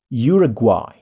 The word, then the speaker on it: Uruguay: Uruguay. Nah, guai ada w-nya ya. Guai. Uruguay.